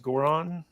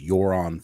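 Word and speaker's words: Göran: Yeah, is it pronounced Goran? It took us a long time to get this right, but it's Yoron. Goran.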